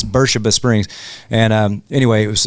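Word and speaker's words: Beersheba Springs: And um it's spelled beers, but they really get mad at you if you but it's called it's Bura Springs.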